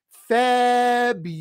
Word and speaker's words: February: So notice there's a hidden Y right after the B. That's the first thing. There's a hidden Y. There's a hidden W in the third syllable. And right there is an R, a very strong R. So we say this month as February. Repeat. February. And remember, the two most important sounds in American English is the R and the W. And here you have both of them, R, W.